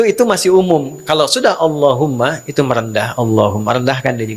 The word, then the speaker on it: Allahumma: Maka adabnya ketika diucapkan Allahumma itu jangan meninggi.